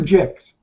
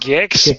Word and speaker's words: Gix: um gixs I I is it gixs or jigs it's pronounced gixs but I you know jigs is like the